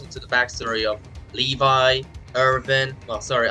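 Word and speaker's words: Eren: the backstory of Levi irin well sorry I do pronounce it Aran because of the English do that's how they pronounce it as Aran yeah yeah for sure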